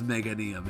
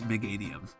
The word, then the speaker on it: Meganium: I have to say it like that so I can make it clear that's Mega, not making it sound, but nobody says Meganium. It's Meganium.